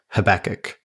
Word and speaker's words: Habakkuk: sure on it but Christopher and I both agreed that it's habakkuk well that's based on the 2ks yeah yeah I learned